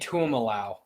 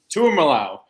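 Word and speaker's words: Tuimoloau: Pretty sure it's JT Tuimalau. Tuimalau. That's how you say it.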